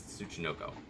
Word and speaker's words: Tsuchinoko: I will mispronounce that. It's Tsuchinoko.